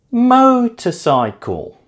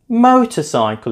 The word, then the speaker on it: motorcycle: Motorcycle. Motorcycle is stressed on the first syllable.